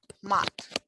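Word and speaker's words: мат: here is an example matt the customer actually it's the name of all cuss words it's pronounced with final heart mat the word might mother is pronounced with the final soft mighty moth image are two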